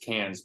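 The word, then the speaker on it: Cairns: i think like cans for example is it's pronounced cans but c-a-i-c-a-i-r-n-s it's like not spelled any way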